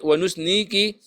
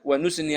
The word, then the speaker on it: ونثني: وكل عليك فنثني عليك ونثني بجر ونثني عليك الخير ونثني ونثني ونثني عليك الخير ونسني عليك الخير غلط نس ونثني عليك الخير خير منثني الخير خير